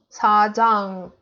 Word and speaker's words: 사장: 사장. The next one is 사장, 사장. Here we see the circle, it's in 받침, right? So we read it like ng. 사장.